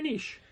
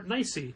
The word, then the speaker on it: niche: Very niche. Very niche. Not a huge market for that. Or nicey, depending how you pronounce it.